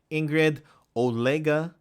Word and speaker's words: Ingrid Olega: The NPCs here, Ingrid Olega, which is the correct pronunciation based on the guide.